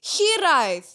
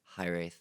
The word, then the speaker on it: Hiraeth: you know so because it's a Welsh word so the pronunciation correctly would be she lies yeah then it was like you know cuz you're an English South African High Wraith would be the way okay I was like